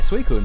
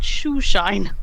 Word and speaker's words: Suicune: one of your people at high school pronounced it shoeshine. Yeah, so I think it was primary school. I remember hearing it, or it might have been high school. They pronounced it Sushine, yeah.